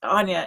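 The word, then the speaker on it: Áine: And one of those stores was called Anya, and Anya is the Irish woman's name. It means Anne in English. It's spelled A-I-N-E, and I love that name.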